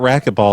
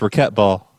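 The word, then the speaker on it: racquetball: pardon it's raet ball it's not racketball it's raquet ball oh for cut ball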